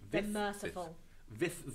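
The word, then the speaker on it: Vyth: You spell it out for me. V-Y-T-H. V-Y-T-H. Vith, the Merciful.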